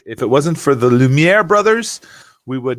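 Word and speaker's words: Lumière: it rhymes in french the lumiere brothers rhymes in french and good night everybody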